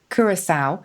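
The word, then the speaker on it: Curaçao: Now, how do you pronounce this? Is it Curacao? Oh, Curacao. Yes, I think it is. Yes, Curacao.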